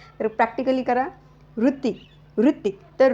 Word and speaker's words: वृत्ती: अ चाण उच्चार तर इथे सायलेंट अ होत आणि जो पुढच्या अक्षरातील जे एक स्वर आहे ती मध्ये जो स्वर आहे छोट्या ची मात्रा त छोट्या या छोट्या ची मात्रा या उच्चारणामध्ये आपल्याला पाहायला मिळते तर या ठिकाणी तुम्ही